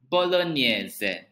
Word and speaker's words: bolognese: of pasta sauce we call it as bolognese bolognese that is the correct pronunciation if you are in italy it is